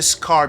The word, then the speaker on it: SCAR: Might be this one is the scar because it's SFAR, but it's pronounced scar.